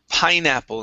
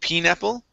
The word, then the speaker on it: pineapple: saltiness very good now this word here is pronounced pineapple instead of pineapple okay long i sound pineapple pineapple okay very